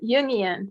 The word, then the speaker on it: Jungian: do you pronounce it it's a union it's like so it's carl yoon's ideas which are complicated and